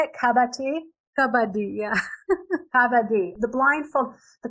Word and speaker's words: Kabaddi: Kabaddi, yeah.